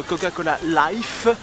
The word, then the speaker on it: Coca-Cola Life: face pass on sera patient on savourera notre Coca-Cola life parce que ça se prononce comme ça j'ai dû apprendre à la